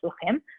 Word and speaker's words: shluchim: Shluchim from the word shlichim, messengers, but because that's how they pronounce it, shluchim.